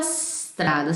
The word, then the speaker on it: strada: Eu disse pra vocês, pronuncia como se fosse uma palavra só. La tua strada, sem colocar um I aqui.